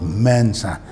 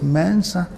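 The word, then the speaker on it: Mensah: our names in Ghana we call ourselves Mensa there's no mensa it's Mansa we said lumpy that's what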